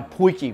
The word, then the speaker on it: potjie: going to take our poikie which basically just means a little pot in afrikaans so people call it something's a pointy pot but the correct way to say it's just poiky and we're just gonna